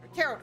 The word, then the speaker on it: tarot: The outcome of my tarot card reading is in your hands. Okay, first of all, it's pronounced tarot.